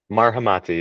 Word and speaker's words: Marhamati: Marhamati. It's pretty phonetic.